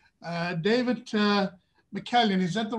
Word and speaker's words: McCallion: uh david uh mckellen is that the right pronounced pronunciation david that's perfect david is 56